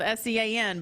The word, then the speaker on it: Sean: It's spelled S-E-A-N, but I know that's Sean. Yeah, that's good, Brendan.